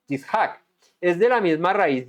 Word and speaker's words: Yitzhak: ¿Cómo se pronuncia Isaac en hebreo? Yishak.